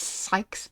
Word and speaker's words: Sykes: Sykes? It's pronounced Sykes.